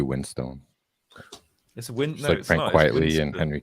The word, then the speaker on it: Winstone: it on purpose because everyone gets his name wrong it's actually Windstone this winter quietly in Henry Cavill no Ray Winston it used it used